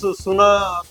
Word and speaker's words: SUNA: In the same trend, you named it as SUNA. There's a very unique name in the market. SUNA is that you have to hear. Yeah. Yeah, it's a closely brand. rhyming with the Sona.